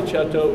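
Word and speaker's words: Cetto: called La chapter chouteau is Italian you could probably tell that by the the way we pronounce it but it's spelled c e TT oh and i just telling you this because la cheto is the largest by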